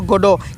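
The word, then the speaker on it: Godot: ये गोडोट नहीं है, टी साइलेंट है। वेटिंग फॉर गोडो, अब देखिए वेटिंग फॉर गोडो क्या होता है।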